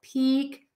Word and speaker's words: peak: Peak pick Peak pick when in doubt for this long e just make it longer really go for it really make that sound a little bit longer and then try to make the short eye a little bit shorter and quicker think about it that